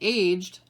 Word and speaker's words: aged: answer to number one write the word that has either one or two syllables depending on its meaning and depending on its pronunciation really so the answer